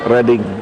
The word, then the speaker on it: Reading: Reading, dibacanya Reading, Reading University.